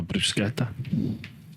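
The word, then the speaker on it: bruschetta: bed you got Bretta a brusketa as it should be pronounced fresh lovely wholesome food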